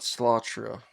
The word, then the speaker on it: Slatra: Um they're it's the album is five times five and the band is called Mount Slattra. Yep. Um I'll tell you how to spell it.